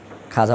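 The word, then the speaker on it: خواجہ: খ ওয়াও আলিফ জিম হা, খাজা। ওয়াওটা উচ্চারণ হইতো না?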